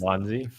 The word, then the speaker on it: Wanzi: So our Wanzi is Wanzi. Yeah, is what we call him, but you are correct. He's pronouncing it phonetically correct.